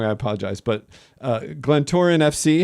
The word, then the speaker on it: Glentoran: And is this, if I pronounce this wrong, I apologize, but Glentoran FC, how would you say that properly? Nailed it. You nailed it. That's Glentoran perfect.